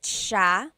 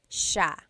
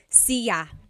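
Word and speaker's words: siya: means you are nice Ma and then ma sha he or she mait sha a couple things I want to point out about sha first is the pronunciation it looks like it should be pronounced sya CA but it's actually pronounced Sha Sha so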